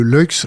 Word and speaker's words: Luykx: Lux, ça s'écrit.